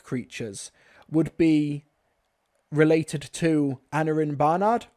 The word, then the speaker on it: Aneurin: Aneurin, and I think that's more the American pronunciation, Aneurin. Now, the UK, it's pronounced more as Aneurin.